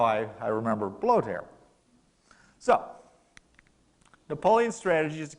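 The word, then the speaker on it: Blücher: proper German pronunciation is blowed hair and the way I remember that it's really quite simple I just think of President Trump in a windstorm and that's how I I remember blow tear so Napoleon's strategy is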